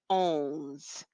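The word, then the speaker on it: onze: the number 11 is owns owns it sounds exactly as it looks owns then number 12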